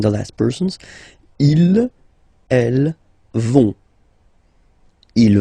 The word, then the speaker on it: vont: Ils, elles vont. Ils vont. Elles vont. Okay, remember, final T not pronounced, so you get this ON nasal here. On, vont.